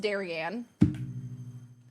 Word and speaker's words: Darian: raided last night oh yeah it's pronounced darianne never beating the Daran